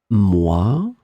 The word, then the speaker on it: mois: In this lesson, we will see together two words that are written differently but pronounced the same way. Moi, moi.